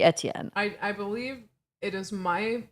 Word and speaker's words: Etienne: And they pronounce it Etienne on here, which really irks me because it has to be French. It has to be Etienne.